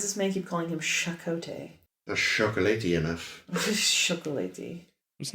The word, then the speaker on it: Chakotay: in the village like insisted on pronouncing the CH as sh shot weird yeah I